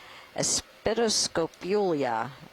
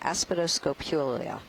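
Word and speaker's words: Aspidoscopulia: how long that yep dead espitoscopulia i know i did i mispronounced that aspedoscopulia it's a hexagon juliana it's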